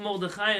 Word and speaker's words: Mordechai: Why Mordechai? Why not Mordechai? His name is not Mordechai, it's Mordechai, no? That's what it says, kamatz. In Baltimore, they read his name Mordechai, not Mordechai. In Ashkenaz pronunciation, this is not Mordechai, that's not his name. That's the Sephardic pronunciation of his name. His name is Mordechai. Not a but a. Yeah? Mordechai, because we know that kamatz is a kamatz katan.